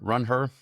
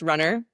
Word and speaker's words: RUNHER: Are we pronouncing the h runner? Run her. I'm pronouncing it just runner, but the h is sort of silent and implied because women are a big part of running.